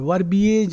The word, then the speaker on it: verbiage: And verbiage is garbage, isn't it? Verbiage means a lot of words. Some people, like chatterboxes. Verbiage is a negative word for a lot of words. It rhymes with garbage also.